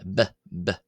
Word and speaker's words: ⲡⲓ: However, in the old boheric pronunciation which which is of course itself a reconstructed pronunciation uh it is pronounced as b uh bbb instead of pp.